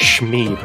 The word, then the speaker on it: Schmeeb: Junko has come in, and that is pronounced Schmeeb, right? There's no way you can pronounce anything other than that. Yeah, I'm pretty sure that's correct.